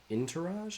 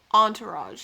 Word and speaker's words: Entourage: so interage of trest inter tourage I think is how you say that word let me see it for those of you Entourage Entourage I was close Entourage of trest